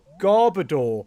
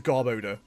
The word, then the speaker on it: Garbodor: Yo, it's Garbodor or Garboda depending on how you pronounce it. I go Garbodor. Garbodor sounds so much better. K in the background saying Garbodor sounds better, but apparently it is Garboda. There is odor in there.